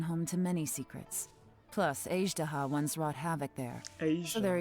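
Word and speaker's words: Azhdaha: to many secrets plus azdaha once wrought havoc there are even more secrets buried deep underground here i've been pronouncing his name as daha for a whole year aged why have i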